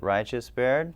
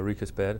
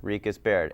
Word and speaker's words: RiechesBaird: is spared because bad a lot of people pronounce it righteous bear we get all sorts of pronunciations yeah yeah but it's uh Rico's bed Rick is Baird and you're not an ad agency no we're